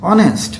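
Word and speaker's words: honest: ইজ অ্যান অনেস্ট ম্যান, অনেস্ট, লক্ষ্য করো অনেস্ট শব্দটা যখন উচ্চারণ করলাম তখন আসলো কি অনেস্ট, ও আসলো, ওটা হলো ভয়েল, এই ভয়েলের আগে আমরা লিখলাম এন।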